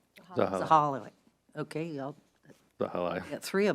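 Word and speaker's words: Zahilay: drafted by staff to the county council chair, Zahila, how do you say his name? Zahala.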